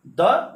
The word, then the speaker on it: the: Letter vowel हो AEIOU, उसके पहले अगर THE अगर लगेगा तो उसका प्रोनाउंसिएशन THE दी होगा, द नहीं होगा। और अगर इसको छोड़ दिया जाए तो कॉन्सोनेंट के साथ, ठीक है, अगर THE अगर लिखा जाए तो इसको द बोलेंगे, जैसे CAT कैट।